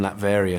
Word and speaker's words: Latveria: Latveria, yeah.